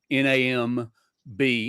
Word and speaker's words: NAMB: everybody uses is nam n-a-m-b in am north american mission board yeah so but rarely do it's kind of like the b is silent but people refer to it as nam so yeah forgive me